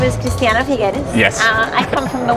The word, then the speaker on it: Cristiana Figueres: But she an amazing woman, and after she corrected my mispronunciation of her name, was delightful. And so here is Cristiana Figueres. My name is Cristiana Figueres.